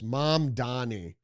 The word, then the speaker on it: Mamdani: New York Post, Socialist Mamdani, I keep pronouncing his name, it's Mamdani, launches new war on NYC business leaders, kicking them off mayor's fund that backs city programs.